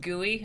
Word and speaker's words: GUI: happy that you guys are liking this it's pronounced gui oh yeah graphic user interface how you doing